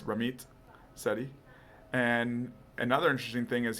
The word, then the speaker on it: Ramit Sethi: It sounds like it's Ramit Sethi.